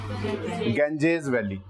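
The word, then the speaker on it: Ganges: पर जब इसे पढ़ोगे इट इ प्रोनाउंस ट एज गेंजेस वैली ठीक है ना हम इसको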